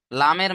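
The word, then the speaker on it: ل: লামের মাখরাজ দেখেন, জিভের আগার কিনারা সামনের উপরের দুই পাশের দাঁতের গোড়ার সাথে, সামনের উপরের দুই পাশের, সামনের উপরের দুই পাশের গোড়ার দাঁতের সাথে লেগে উচ্চারণ হবে লাম।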